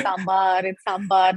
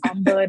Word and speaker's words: sambar: I'd constantly be like, it's sambar, not sambar, not sambar. So that was as far as my South Indianness went with my fellow classmates.